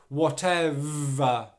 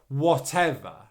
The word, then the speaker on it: whatever: the word okay so make sure that you're pronouncing that v sound at the beginning of the next syllable but that next syllable is unstressed so your v sound isn't loud whatever whatever whatever so you